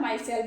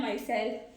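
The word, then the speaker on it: micelle: ठीक है, माइसेल मतलब उसका प्रोनाउंसिएशन क्या होता है, माइसेल बोलते, क्या है, माइसेल।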